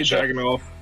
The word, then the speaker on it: Dragunov: Just say Dragunov. Just say Dragunov. Dragunov.